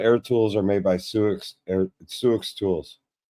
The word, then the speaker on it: Sioux: Snap-on air tools are made by Suix tools. Like Suix, like SIOUX.